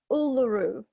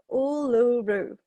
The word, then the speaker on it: Uluru: We call it Uluru. Ulu? No, Uluru.